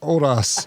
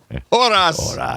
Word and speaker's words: horas: bird on our 48 horas poster, please. Horas. Horas. Is that how you'd say it? Probably. Yeah. Yeah. At least they did it. You would not pronounce the H.